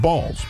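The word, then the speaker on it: Baals: B A A L S, but it is pronounced Balls.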